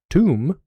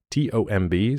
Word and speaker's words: tomb: Um, so in English, comb, like to comb your hair, c o m b, or a rooster comb, is pronounced that way. Comb. Tomb. T O MB, spelled the same as comb, just with a t instead of a c.